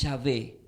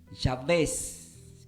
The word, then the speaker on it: Jabes: Jabes del hebreo se pronuncia como, alguien lo puede malinterpretar, no es Yahvé, es Yahvés, con acento en la E, Yahvés con B larga, Y-A-V-E-S, Yahvés, se pronuncia Jabes.